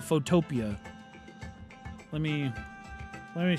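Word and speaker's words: Photopea: of people pronounce it photopia um but it's it's actually spelled like Photo and then P like like the vegetable P EA um but a lot of people call it photopia let me let me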